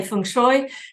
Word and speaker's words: feng shui: that's the pronunciation so I tend to say feng shui unless I'm talking to